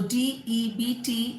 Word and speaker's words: debt: Similarly, if you say debt, D-E-B-T. So D-E-B-T is also not debt, it is debt.